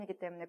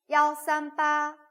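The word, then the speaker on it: 幺: 어떻게 말했나 요 ? 야오 맞죠 ? 여기서 는 " 야오 " 라고 읽어야 한다 고 말씀 드렸습니다 . " 이 " 라고 읽지 마세요 .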